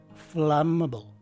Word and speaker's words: flammable: And finally, the BLE part takes a schwa sounding E and is dropped by some speakers, as indicated by the open-close parentheses. So again, the correct way to say this word is flammable.